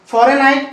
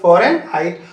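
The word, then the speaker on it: Fahrenheit: फॉरेन हाइट में एक silent ध्यान रखना, फॉरेन हाइट।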